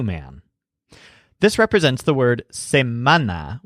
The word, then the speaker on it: semana: this represents the word same mana with the stress on men which means weak this